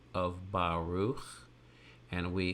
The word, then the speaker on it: Baruch: Baruch, my Hebrew name, Baruch, takes only one consonant letter plus a vowel to make the first syllable, ba, ba, the letter bait, and the T-looking symbol